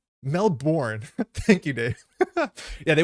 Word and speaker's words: Melbourne: to be a myus it's pronounced melbour Melbourne thank you Dave yeah